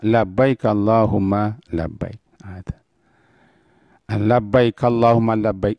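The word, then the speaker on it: لبيك اللهم لبيك: untuk melaksanakan umrah Hai atau haji Hai nah bacanya Labbaik Allahumma Labbaik ada Hai Labbaik Allahumma Labbaik inilah yang diterjemahkan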